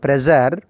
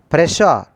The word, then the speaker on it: pressure: Many students, they have been called pressure. This is called pressure, not pressure. We should not pronounce ja sound. We should pronounce sha.